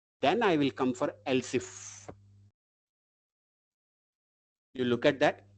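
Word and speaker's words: elif: We'll pronounce it as else if. But while writing the syntax it is e l i if please mind that.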